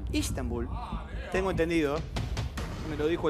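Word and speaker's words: İstanbul: beirut o rabat Estambul Estambul que en el idioma Turco se pronuncia istanbul istanbul tengo entendido me lo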